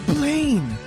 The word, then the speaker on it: Blaine: Yeah, Blaine. because it rhymes with plane.